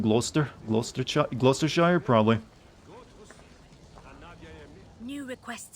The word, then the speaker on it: Gloucester: loaded i mean drunk that guy just pronounced glochester like it's spelled i mean i probably am doing that too it's where it's pronounced gloucester lost gloucestershire probably new